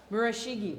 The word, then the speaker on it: Murashige: Pronounce all the vowels. Okay. Murashige.